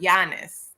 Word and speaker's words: Giannis: it's pronounced with the Y, Giannis. That's how you pronounce his name.